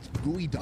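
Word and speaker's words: geoduck: First off, it's pronounced gooey duck at all.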